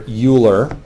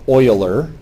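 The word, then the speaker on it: Euler: you it's special it's named after uler or Oiler depending on your pronunciation in dialect and it represents 2.7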